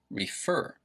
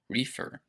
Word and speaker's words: refer: um we pronounce this refer refer can you tell where the stress is you should notice it's on the second syllable refer it is not pronounced reefer reefer i believe that's something